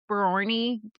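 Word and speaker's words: Boerne: I think it's called Borny, but it's spelled Born.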